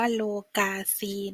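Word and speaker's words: lokasi: ที่ ค่ะ สถาน ที่ ภาษา มาลายู คือ โลกา สี โล กาซี อ่าน ว่า โล กาซี นะ คะ คือ สถาน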